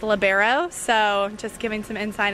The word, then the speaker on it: libero: Yeah, I think from a funny aspect, I think people like to call the person in the different color shirt a libero, and it's actually pronounced libero, so just giving some insight in there.